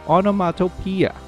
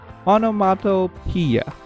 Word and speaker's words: onomatopoeia: So we have onomatopoeia. Now, I have to spell it for you guys. It's O-N-O-M-A-T-O-P-O-E-I-A. Again, the word is onomatopoeia.